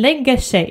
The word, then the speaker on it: lägger sig: in a word, but we can also pronounce it actually when one word ends with R and the next one starts with S. Han lägger sig, han lägger sig. So you see, you hear the sound sh because it's spelled lägger